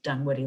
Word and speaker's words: Dunwoody: two o's later but it was always pronounced done woody like this and yes the town